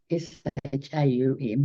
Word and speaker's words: Shaum: But Divine Mother wants us to use Sham, S-H-A-U-M, which we would pronounce Shaum, rather than the Om.